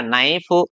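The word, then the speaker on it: knife: तो हमने यहाँ इसको कनाइफ नहीं बोला, इसको कनी नहीं बोला, इसको कनो नहीं बोलेंगे, इनका सही उच्चारण हो गया क्या, नाइफ, नी, नो, net, knob, knock, not, neck, need, knowledge.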